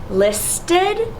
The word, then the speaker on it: listed: This word is mended, and it creates a second syllable. Listed, mended.